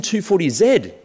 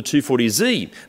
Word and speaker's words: 240Z: It's the Datsun 240Z, or the 240Z. Both pronunciations are correct.